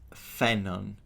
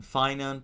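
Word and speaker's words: Phainon: The name is pronounced Fenon. Characters in the game call him Fon, but I I should tell you that it's an actual Greek name.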